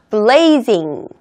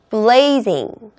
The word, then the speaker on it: blazing: 단어는 두구두구두구두구두구 짠 짠 Z 발음 있을 때는 즈 즈 유념해 주세요 잘못 발음하면 꼭 제이 같이 들리거든요 그러니까 혀와 저기 그